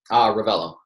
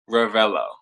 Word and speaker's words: Revello: Revello. Revello.